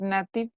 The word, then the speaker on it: native: Native, not native. Native. Remember again the phonemes. How do you pronounce the A over there?